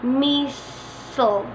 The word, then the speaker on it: missile: all toward toward somebody our next word has two pronunciations one from the Americans and one from the British for the Americans they say missile missile for the British they say Messiah both are accepted cinema go eat on